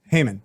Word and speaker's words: Haman: in English you pronounce it Haman. Haman.